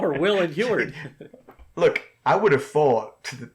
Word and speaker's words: Heward: It's how the audiobook pronounces it, Heward.